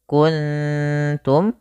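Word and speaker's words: كنتم: baca dengan bacaan Ikhfa maka cara bacanya yaitu samarkan nunnya kepada huruf ta makhraj daripada ta yaitu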